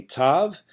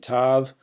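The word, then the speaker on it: ת: And then finally tav, and these days tav is pronounced like a T in any position.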